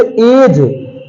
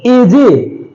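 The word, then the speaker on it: edge: जैसे एज, एजे, एजे, जी जे बन जाएगा, एजे तो बोलते नहीं है, इसे एज बोलते हैं, ई साइलेंट है।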